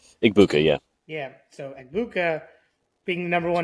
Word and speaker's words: Egbuka: So I obviously on the other side, we have how do you pronounce his name? Egbuka? Igbuka, yeah.